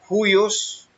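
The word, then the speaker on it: υἱός: Es la G5207, se pronuncia huios y significa a veces de animales, usado muy ampliamente de parentesco inmediato.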